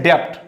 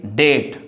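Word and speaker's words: debt: Here is now, this is the very important word, B will be silent, and don't say depth, say date.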